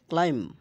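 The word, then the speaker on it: climb: যেমন বম বোমা কম চিরুনি থাম হাড়ের না হাতের বুড়ো আঙ্গুল থাম্বনেইল ছোট ছবি ক্লেম ওঠা ক্লাইম ক্লাইম ওঠা এখানে বির উচ্চারণ হবে না অন্যদিকে যদি বি এর পর এমবি ঠিকই আছে এম আর বি একসাথে থাকবে।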